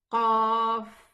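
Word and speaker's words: قاف: And the name of this letter is qaf. Get it from deep inside. Qa, qa. The very deepest part of the tongue.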